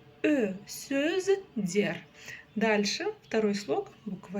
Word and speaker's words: сөздер: Сөздер. Дальше второй слог, буква Е, и вот как пишется, так и читается, и ничего не искажается.